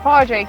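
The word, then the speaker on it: Pádraig: So Padraig O'Connor, is that right? Not too bad, Padraig, yeah. Padraig, okay, I was mixing up the English and the Gaelic, yeah.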